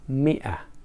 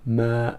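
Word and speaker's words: مائة: with this hello but even though we say Mia but not Ma okay but later we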